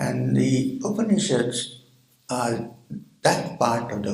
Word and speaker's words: Upanishads: there are new people upanishads has three syllables means to sit close